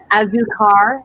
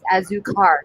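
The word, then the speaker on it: Azucar: Okay, how do you pronounce that? Azukar, A-Z-U-C-A-R, times Ghost Train Haze. Azukar times Ghost Train Haze.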